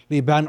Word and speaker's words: Libaan: So with that in mind, we have Toronto Star journalist and the host of the Canadian Basketball Show, Libaan.